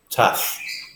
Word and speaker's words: tough: the surface of the ground is very rough tough tough oh okay I had a rough trip